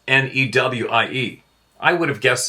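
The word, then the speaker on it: người: wouldn't have guessed that spelled nguoi but it's pronounced newi IE I would have guessed that easily without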